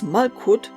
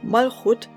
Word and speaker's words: Malchut: Due to a grammatical sound shift, the so-called Begat-Gefat, in which, instead of the harder sounds, softer pronounced consonants are used, these Hebrew terms are really pronounced Malchut and Geburah, and should therefore be